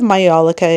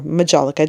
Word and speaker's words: majolica: There's a lot of majolica in here, or majolica, depending on how you prefer to pronounce it, as well as these stunning Asian incense burners.